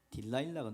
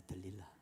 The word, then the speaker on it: 들릴라: 딜라일라가 누굴까요? 자세히 영어 글자를 한번 딱 보십시오.이 들릴라입니다. 들릴라. 들릴라를 영어식으로 발음하면 딜라일라가 되는 거죠.